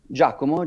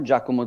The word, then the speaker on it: Giacomo: here with Bitcoin maximalist gomo am I pronouncing that right jakomo jakomo sounds a little bit like the